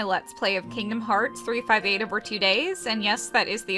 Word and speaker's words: 358/2 Days: welcome to my let's play of kingdom hearts 358 over two days and yes that is the official pronunciation of the title um we'll be calling